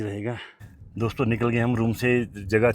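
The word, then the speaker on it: Rumtse: इसकी स्पेलिंग है आर यू एम टी एस ई हां इनका प्रोनाउंसिएशन का है। रूम से होगा ना रूम से।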